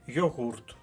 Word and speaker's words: йогурт: і йогурт і йогурт але правильний наголос на другому складі йогурт бо слово прийшло з